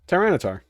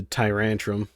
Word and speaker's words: Tyranitar: Don't tell me I got his name wrong. Oh yeah, he is. Tyranitar. My brain was going to Tyrantum.